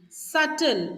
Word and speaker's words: subtle: is called as Pantry subtle so here it is not subtle so B is silent here read this as subtle